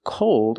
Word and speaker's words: cold: North Pole so remember the different pronunciations of these words the first word is called it's open and the second word is cold old if you still don't